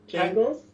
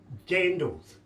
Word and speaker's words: jandals: And Americans are actually trying to sell crocs as jandals. Come on, that's wrong. That's a croc. Yeah, and that word is not familiar to me. What is it? Jangles? Jandals.